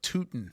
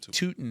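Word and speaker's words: Tuten: Uh, also it's Bashial Tooten. Total Toten. Totin is how you say it.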